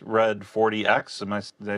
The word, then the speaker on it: XRED40X: Um, today we uh have with us the band X Red 40X. Am I Did I say that right? Pronounced red 40.